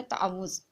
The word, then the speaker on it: तावुज़: तस्मिया, यानी कि इसको हम ज़्यादातर हम प्रोनाउंसिएट करते हैं ताउज़, लेकिन इसका जो रियल प्रोनाउंसिएशन है वो है तावुज़।